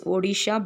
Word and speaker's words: Odisha: Okay, again it hit Orissa, that is Odisha. Now the pronunciation is different, so you need to pronounce it as Odisha. Before it was Orissa, now it has to be pronounced as Odisha.